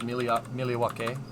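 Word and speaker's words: Milwaukee: at Rockwell Automation outside miliwake doing production scheduling yeah did you know that it's pronounced emilioake which is Algonquin for the good land louder like I said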